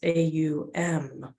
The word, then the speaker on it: Om: In the English tradition, we see it as 2, but traditionally in yogic traditions, it's AUM.